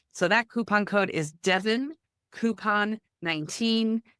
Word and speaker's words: Devyn: So that coupon code is Devon Coupon 19. Devon's name is spelled DEVYN Coupon 19, all one word.